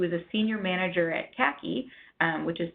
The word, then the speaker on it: CACI: named Denise who is a senior manager at kaki which is spelled CACI where she runs the companies disabled